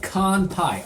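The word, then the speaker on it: 乾杯: It is pronounced kanpai. I was right.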